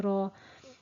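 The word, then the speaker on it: راء: Be careful it's not pronounced like the letter R in English, which in English is the letter R is also a tip letter, but it's pronounced by rolling the tongue back onto the hard palate.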